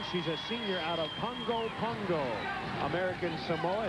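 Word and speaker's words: Pago: 5'10", she's a senior out of Pongo, American Samoa. It's spelled P-A-G-O, but it's pronounced, I'm told, by the Samoans, Pongo.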